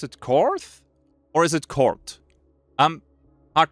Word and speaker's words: Korth: So as far as I know, they are, or at least originally produced in Germany, so that would be Kort and not Korth.